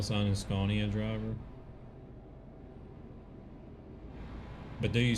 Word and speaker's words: Scania: Well, I guess anybody that doesn't understand Swedish would say Scania. Oh. Scania. Because you guys pronounce it the way it looks, but which is understandable. But it's an aw sound, not an and sound.